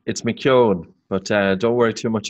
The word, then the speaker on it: McKeown: It's McKeown, but don't worry too much about it.